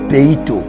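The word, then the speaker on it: πείθω: la persuasion en grec le mot persuader ce verbe là ça se prononce pito pito signifie quoi pito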